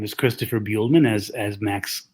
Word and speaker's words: Buehlman: Hello, my name is Christopher Buehlman, as Max correctly pronounced and introduced me.